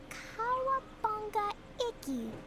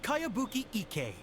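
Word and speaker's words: Kayabuki Ikkei: By Kawabunga Iki. Yoniha, this is a really strange name. Yeah, I don't recognize it. Who's this Kawabunga? It's pronounced Kayabuki Ike.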